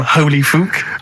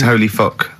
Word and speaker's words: Holy Fuck: Please, can we have more Holy Fook? You're not pronouncing it right, I Steve. know. I was just a bit edgy there. It's Holy Fuck, the little Chinese fella.